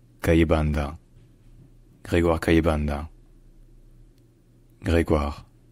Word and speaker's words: Grégoire: the country at the time his name is pronounced greguar cand gregar kayanda gregar c k all right if you